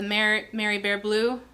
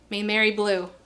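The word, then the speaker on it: Maimeri Blu: The Mary Bear Blue? Mary Blue.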